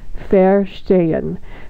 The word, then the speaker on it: Verstehen: Listen to the German pronunciation, Verstehen.